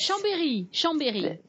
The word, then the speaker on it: Chambéry: Okay, briefly mention that Chambéry, is that how you pronounce it? Chambord, I know Chambord, but C-H-A-M-B-E-R-Y. B-E-R-Y? Yes. Chambéry.